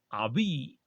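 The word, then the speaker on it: Haüy: acuerdo a un clérigo francés llamado One Just Abi creo que se pronuncia así y se escribe aui pero se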